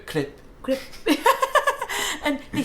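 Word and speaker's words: crêpe: Crepe doesn't trigger me. I know. I'm like, it's incorrect, isn't it? I think it is incorrect. French people don't go crepe, they go clip.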